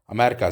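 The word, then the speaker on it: أمريكا: रोज़ा मिन अमरीका, रोज़ा अमेरिका से है. तो जैसे उर्दू में आप अमेरिका को अमरीका कहते हैं, इसी तरह से अरबी में भी अमरीका ही कहते हैं, लेकिन ये लिखा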